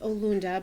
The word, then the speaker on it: Orinda: by telling you that the word Orinda is actually pronounced Olunda, but we're not going to ask anybody to change that. Olunda is an Iroquois word, and it means everything's connected.